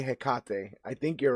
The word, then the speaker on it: Hekate: Um, and yeah, it's a damn shame I can't that I cannot pronounce this, but I want to say Hekate. I think you're right. I think it is Hekate, right?